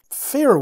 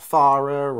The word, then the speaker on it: Farer: Fairer watches. It is fairer, that's the correct pronunciation. Yes, fairer, not farer or kind of a...